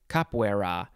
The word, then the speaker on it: capoeira: think just means head okay moving on to capoeira you could also just say capoeira c-a-p-o-e-i-r-a noun from 1945 a brazilian dance of